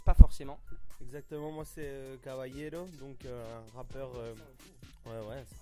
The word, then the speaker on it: Caballero: Tu peux peut-être rappeler, ouais, donc c'est CABA2LERO, Caballero. Voilà, ça se dit comme ça et ça s'écrit comme je viens de le dire.